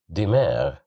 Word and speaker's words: دماغ: So here we have kasra below the letter dal. So that's why we pronounce it as di, dimar, dimar.